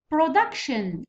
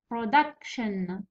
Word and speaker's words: production: Production. كلمات اللي سجدوا بشن يجي في penultimate syllable. Stress يجي في penultimate syllable. كلمة penultimate معناها الثاني من الأخير. الأول من الأخير هو شن والثاني دكة. Production.